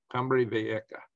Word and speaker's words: Cumbre Vieja: Yeah, and that's pronounced like a K, a J is in this case, Cumbre Vieja.